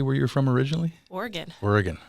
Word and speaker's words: Oregon: Oregon, okay. That's how you say it. Not Oregon? Nope.